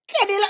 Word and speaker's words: Kenila: I got Kenila. Say I said it right? I said it right? Kenila.